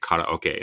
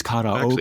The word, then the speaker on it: karaoke: really trying to make karaoke a thing, Right. Everyone's like, it's karaoke. Actually, it's karaoke. It's not karaoke.